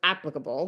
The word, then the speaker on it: applicable: I looked it up online, and in the Longman, and the pronunciation for Americans was applicable, where you put the stress on the front.